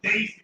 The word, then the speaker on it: Desi: That's pronounced Daisy, I believe. D-E-S-I, they pronounce it Daisy.